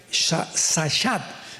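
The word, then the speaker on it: שחת: Esta palabra corromper es la palabra hebrea sachat. Sahat con s de Samuel y ch. Sahat. Sahat se pronuncia, que significa corrupción moral.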